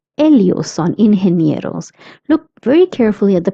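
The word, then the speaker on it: ingenieros: G E is pronounced as he that's why it's inheros.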